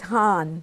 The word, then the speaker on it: Hahn: Well, there's a High German name, which is Hahn.